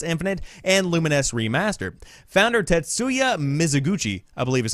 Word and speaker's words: Tetsuya Mizuguchi: Founder Tetsuya Mizuguchi, I believe is how you say that name,